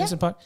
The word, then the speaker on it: Anderson .Paak: And Anderson .Paak. Am I saying it right? Yeah. Anderson .Paak.